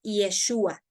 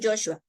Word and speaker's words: Yeshua: así se pronuncia, pero en original en hebreo le dijo, tu hijo se va a llamar Yeshua, no Joshua, Yeshua, aunque son palabras similares y significan el Señor da salvación, de todas maneras.